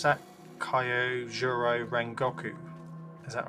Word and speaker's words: Kyojuro Rengoku: Kyojuro Rengoku. Is that right? Oh, I've seen this one. He showed me that. He told me about this one. Yeah, Rengoku.